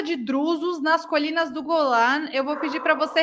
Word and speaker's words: Golan: As colinas de Golan, que falam em português, eu vou falar como se fala em hebraico, nas colinas do Golan, essas colinas que, na